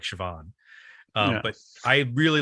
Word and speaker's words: Siobhan: I think um what's Siobhan yeah I always have a hard time pronouncing that name because it doesn't look like Siobhan um but I really